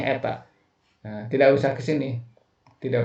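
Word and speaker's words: η: kalau pilihan ganda Kalian tidak usah nulis P ya ini dibacanya Eta tidak usah ke sini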